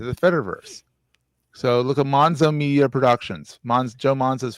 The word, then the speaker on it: Monzo: Yeah, it rhymes with Gonzo. Only it's Monzo.